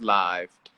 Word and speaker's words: Lyve: instead of an i david live is spelled with a y instead of an i live your life with a y you don't live it with an i um so it's pronounced live but you know it's